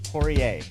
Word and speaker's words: Poirier: Corey Poirier, welcome to Oldish. Thank you so much, Randy. And you just pronounced my name, as I said off air, better than me.